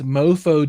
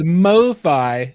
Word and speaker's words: MoFi: you joining us tonight is john durda from mofi distribution and let me just tell you i've wanted to call you guys mofo distributions some of our guys have that title it's it is mofi distribution because i i is that just short